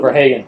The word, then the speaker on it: Verhagen: How do we pronounce that? We're going to go with Verhagen.